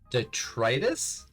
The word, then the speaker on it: detritus: All right, so you pick up a piece of the detritus? Is that how you say it? Detritus? Yeah. Okay, so you pick up a piece of the detritus.